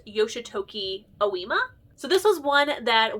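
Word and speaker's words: Yoshitoki Ōima: I think it's pronounced Yoshitoki Oima.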